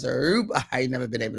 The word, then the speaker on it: Aruba: I can't say it how they say it. They roll the Mars. Aruba.